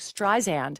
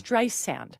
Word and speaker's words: Streisand: So she's the one who went to Alexa and wanted to correct the pronunciation cuz they said like Streisand and it's Streisand.